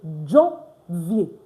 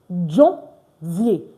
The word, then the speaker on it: janvier: So that's why I'm going to say Janvier. Janvier. Do you see that? Janvier. And of course, it's vier because ER is pronounced A at the end of the word.